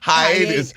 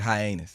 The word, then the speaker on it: hiatus: zuc and to say Hiatus but anus what on how do you say it for real hiatus hiatus yes I've always said hiy anus oh my God oh